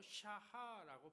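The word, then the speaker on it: שָׁחָה: 그 다음에 예배하다는 단어가 나오는데요, 샤하라고 발음하는데 몸을 굽히다, 엎드리다, 경배하다 이런 뜻이 있습니다.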